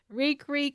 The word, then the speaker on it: Reek: Reek, I'm Reek. It rhymes with squeak. It rhymes with weak. It rhymes with all the worst things in the world.